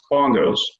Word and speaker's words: BNGOS: For example, the spelling of the BNGOS departure is pronounced bongos.